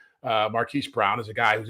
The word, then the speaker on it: Marquise: I've been saying Marquez for so long. I got to make sure I'm saying it right. Marquise Brown is a guy who's interesting because of his speed.